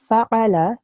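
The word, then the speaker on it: فعل: However, if, for example, the lam here, take this lam here, if we made this lam longer than 1 second, so say if I said fa'ala, so I made the lam very long there, okay? If I read that, the meaning will change. Instead of the meaning being he did, the meaning will become they both did.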